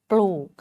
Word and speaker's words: ปลูก: กิริยา ของ เขา คือ ป ปลา ล ลิง สระ อู ก ไก่ ค่ะ ปลูก เวลา อ่าน ก็ อ่าน ว่า ปอ อู ก ปลูก ค่ะ พูด เขา เรียก